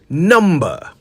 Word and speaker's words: number: allot or to divide so remember it's number not n the B is not Silent not when you say it right yeah I